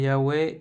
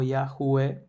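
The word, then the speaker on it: Yahweh: Y acá tenemos el significado, la traducción de esas letras hebreas que es Yahweeh, se pronuncia ahí Yahwe o Yahu.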